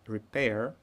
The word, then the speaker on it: repair: Здесь будет repair. Здесь как prefix, so we use. So usually prefixes are not stressed. So we need to put stress on pair.